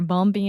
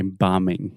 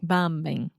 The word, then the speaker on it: bombing: of places yeah they're bumpy and bumpy and people are dying and no one talks about it okay bombing bombing okay the B is silent so so just imagine